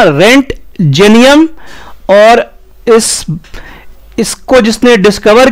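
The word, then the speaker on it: Roentgenium: दिया गया x raise element का उच्चारण होगा रेंट जेनियम ओ को एकदम भूल जाना रेंट जेनियम और इस इसको जिसने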